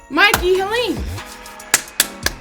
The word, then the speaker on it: Mikey Halim: We're here with a professional graphic designer, a pro, I don't know how else to say, a veteran, really, honestly, Mikey Halim. Is that how you pronounce it, right?